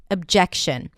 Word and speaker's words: objection: word objection, because it has a fun little schwa at the beginning, even though it's spelled with an O. Object. I object. Object. And then shin. Objection.